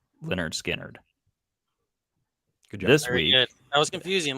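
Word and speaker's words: Lynyrd Skynyrd: so we did for the album Leonard Skynyrd pronounced Leonard Skynyrd this week I was confusing last week it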